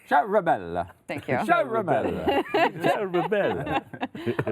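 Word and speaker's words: Ciaramella: Charamella.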